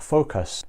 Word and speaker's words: Focos: Okay, so for this purpose, I'm using an app called Focus. Now it's spelled F-O-C-O-S.